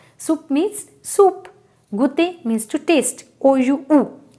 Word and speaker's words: goûter: Goûter means to taste. O-U-U, right? Okay, so it was all about this oo sound. I hope you understood that whenever O-U is coming together, it gives a sound oo.